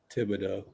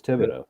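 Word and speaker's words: Thibodeau: isn't it yeah huh Maybe maybe someone in his family had Tibido but you think it's tibs like tibs you think it's tibo silent h yeah because that's French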